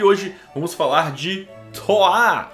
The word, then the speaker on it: Troyes: da idade média e é francês então a pronúncia é coar o aprendi no Google tradutor e fica aí a denúncia que eu já vi gente falando troyes Oi e aí galera